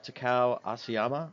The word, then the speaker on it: Takao Asayama: We have Takao Asayama, that's how you say it, from Bitgirls, and they just opened their ICO.